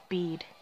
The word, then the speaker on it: Bede: in the name is silent until somebody properly pronounced it and like oh it's bead you just might be the strongest champion and